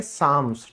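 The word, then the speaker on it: psalms: फिर है भजन, भजन को इंग्लिश में हम कहते हैं साम्स, ठीक है, जो धार्मिक गीत गाए जाते हैं, दैट्स कॉल्ड साम्स, ठीक है।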